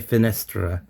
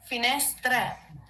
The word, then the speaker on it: finestre: It's gonna be le finestre. Le fenestre. And if it's singular with this word, it's also fenestra. La finestra. The only thing that changes then is the la and the lay. That's what I wanted to know. No. No. No. No. No. No. I'm saying le finestre. Tre.